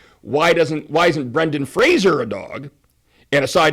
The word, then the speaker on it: Fraser: Everybody's been calling him Fraser, like the TV show, the spinoff of Cheers, Brendan Fraser. He says, no, my name is not Fraser. It's Fraser, like a razor.